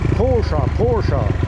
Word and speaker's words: Porsche: Pocha. aux États-Unis d'Amérique chercher l'erreur ça vient d'Allemagne mais ça se prononce chat avec un bon chat d' on